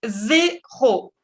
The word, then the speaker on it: zéro: En français, cero se dice muy prácticamente igual que en español. Vous dites zéro, zéro.